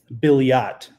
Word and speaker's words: Billiot: Billiot is the pronunciation. Thank you, David. I appreciate that. French Creole trips most people up who aren't from South Louisiana. Not even everyone down here guessed right.